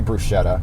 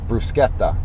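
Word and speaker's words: bruschetta: in Italy there's a there's a CH in there but they don't say brushetta the CH is like a k sound like brusketta so we say it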